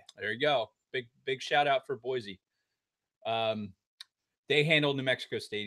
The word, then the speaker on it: Boise: There's no Z in Boise.